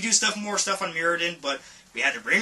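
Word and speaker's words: Myr: one is Shimmer me I always want to say Meer but I guess the correct pronunciation is Mir like I had it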